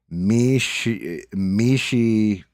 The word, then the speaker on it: Mishipeshu: Mishipeshu. Peshu. Thank you. Thank you. Because phonetically, like, yeah, I can break that down.